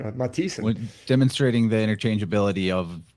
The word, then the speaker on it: Mathisen: It's the th letter, but actually in Norwegian or Scandinavian, they typically pronounce the th not like th as much as like t. Like my name Mathisen, which is Norwegian.